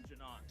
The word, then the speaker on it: Janot: And Officer Janot, badge number 42. 42. How do you say your last name? Janot, sir. Janot? Janot.